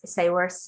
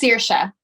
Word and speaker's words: Saoirse: that you painted on Sayworth, is that how, am I saying it? How do you say it? Sayworth? It's Saoirse. Saoirse. Oh, thank you. Okay. Well, we said it wrong. We were nowhere near.